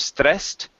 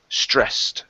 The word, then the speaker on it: stressed: Okay, let's work on the pronunciation of the word stressed. Instead of stressed, stressed. Try that. Stress. There you go. That's much better.